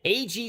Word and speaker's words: Ag: It's pronounced Ag Solar. Is it? Yes, sir. I know. I did it too for like 3 years till finally they called and said, "You do know we're pronounced Ag, right?"